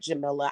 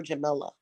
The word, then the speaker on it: Jamila: pronounce my name Jam I like Jamila I actually prefer Jamila okay like vanilla I prefer Jamila some